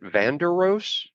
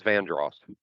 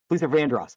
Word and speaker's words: Vandross: Is that how you pronounce it? Vanderos. That was Vandross. Yeah. Luther Vandross.